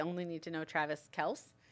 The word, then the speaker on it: Kelce: We only need to know Travis Kelce. Because apparently, no. It's Kelsey. I don't care. That's how Jason Kelsey says it.